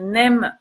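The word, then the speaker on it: neem: Vous avez la poudre de NEM aussi, N-E-E-M.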